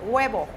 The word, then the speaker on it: huevo: Ok, es huevo, huevo. Huevo. No guava, ¿eh? Huevo. Guava, I was thinking a guava, the fruit, es guayaba en español.